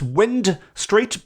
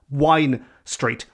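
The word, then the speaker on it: Wind Street: Street and that is Wine Street which confuses a lot of tourists because it's spelled w i n d so people might think it's wind stre but I can assure you it's definitely Wine Street and that more boozy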